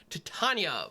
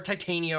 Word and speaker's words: Titania: voice of Gaia or Titania or however that I could pronounce it I saw a Shakespeare production of Midsummer Night's Dream where they pronounced it Titania I assume they know what they're talking about so anyway um yeah